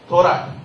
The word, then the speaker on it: Thorat: What is T-H-O-R-E-T? How do you pronounce it? T-H-O-R-E-T. Thorat. It's a very popular name in Maharashtra. Now one of my friends from Karnataka went there. He went and shook hands. Hi Dr. Throat, how are you?